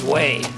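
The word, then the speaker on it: whey: The uh apparently that I pronounce that as Y, but it's way.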